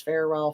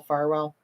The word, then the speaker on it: Farwell: messages between Matthew Farwell I've heard it pronounced both ways Farwell Farwell and Sandra birchmore over